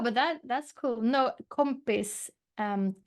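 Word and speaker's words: kompis: west no no but that that's cool no compis um k m p i s i okay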